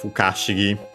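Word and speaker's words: ふかしぎ: Again, actually, contraction of Fukashigi. That one accent on the ka. This one unaccented, so be careful.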